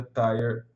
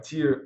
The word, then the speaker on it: Tier: tráfego desde que seja tire um ou melhor Tier um pronúncia tá errada Tier um que que isso